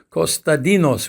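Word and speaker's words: Konstantinos: Uh my full name in the Greek language is Costadinos which is another way of pronouncing Constantine or Constantine.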